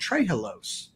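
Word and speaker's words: trehalose: rarely spoken of and it's called trilos and it's part it's spelled t r h l o s e it's a disaccharide it's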